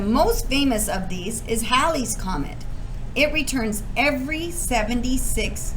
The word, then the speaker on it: Halley: talking about comments oh some people also pronounce this as halley's comet you'll hear it in both ways when i was a kid we opt it was referred to as hayley's comment and then the